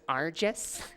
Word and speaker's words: Arges: okay first of all it's rgeous that's been a soft G all to please okay